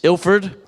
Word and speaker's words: Ilford: tragic story that's their old headquarters in East ilford is that right that's how you say it